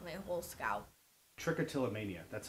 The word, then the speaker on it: Trichotillomania: Trichotillomania, that's how you pronounce it. Yes, it is. What is it exactly? Well, it comes from the Greek, trick meaning hair, till meaning pull, and mania, which means craziness or mania.